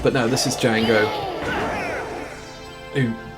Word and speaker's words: Django: The D is silent, but no, this is Django, who like killed him pretty easily that time.